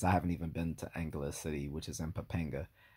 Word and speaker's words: Angeles: And you notice I pronunciated that two different ways. That's because I'm not sure, because I've heard people pronounce it both ways, including the Filipinos themselves. Some say Angeles, some say Angeles. I don't know.